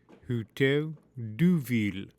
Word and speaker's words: Hôtel de Ville: The Hotel de Ville, French pronunciation, Hotel de Ville, City Hall, is the